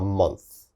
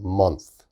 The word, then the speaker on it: month: month a little bit difficult to pronounce a month a month your tongue has to come out a little bit a month a month